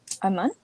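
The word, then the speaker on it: אמן: any Hebrew word from these letters I'm I'm Aman Aman right which means what oh when you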